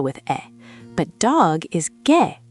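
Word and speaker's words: 개: But dog is gae, spelled with ae.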